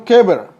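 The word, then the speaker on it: קבר: La palabra sepulcro en hebreo recibe la pronunciación keber, ¿verdad?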